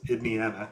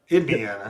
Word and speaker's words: Indiana: Indiana made it to the Oh my gosh. Not not Indiana. Idian. It used to be pronounced ID Idian. Yeah, that was the 19th century pronunciation.